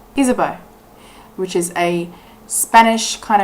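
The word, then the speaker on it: Ysabeau: failed but I looked it up apparently it's pronounced isabo isabo which is a Spanish kind of term for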